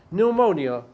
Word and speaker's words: pneumonia: written okay so in the letter p is not pronounced so how how does it begin it begins with an n remember don't be mistreated